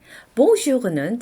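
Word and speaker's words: bonjour: 돼요 자 발음 볼까요 앞에 봉이 바로 비강모음이죠 이번에는 옹 발음을 해요 코로 올려서 발음하시면 되겠죠 그래서 봉은이 단어 자체로는 좋다라는 뜻의 단어죠 그런데 뒤에는 모음이 한꺼번에 연결되어서 나왔죠 그래서 모유 봉주 이렇게 발음을 하는 거죠네 6은 날 하루 혹은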